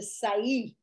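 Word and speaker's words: Sa'i: second pillar is the Sai spelled s a long I say which is the right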